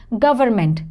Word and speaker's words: government: correct pronunciation is again the silent n is there people generally don't write or say that government this n is silent